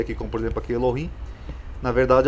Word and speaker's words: Elohim: Elohim do hebraico, Elohim ou Eloá, pronunciado Elohim, é um substantivo que se refere a Deus, usado na língua hebraica moderna e antiga.